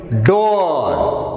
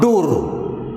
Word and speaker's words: door: But in d-double-o-r we pronounce is door, not dur.